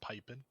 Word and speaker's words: Pipin: It's pronounced pipin. Pipin. Pipin. Pipin hot.